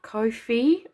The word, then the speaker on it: Ko-fi: But also I've just signed up to Ko-fi or Coffee, whichever way you pronounce it. It's Ko -fi, so it's Ko-fi, and well, my link will